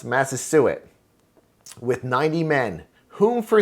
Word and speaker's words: Massasoit: their greatest king, and I believe this is pronounced Massasoit, with 90 men, whom for 3 days we